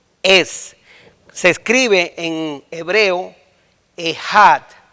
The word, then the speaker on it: Echad: Esa palabra uno es, se escribe en hebreo Echad o Echad, se escribe E-C-H-A-D o E-J-A-D, Echad.